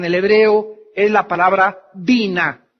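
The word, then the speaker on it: בינה: La palabra inteligencia en el hebreo es la palabra bina. B grande, Y, N, A, H. Bina. Otras veces simplemente se pronuncia en el hebreo bin, B-Y-N, inteligencia.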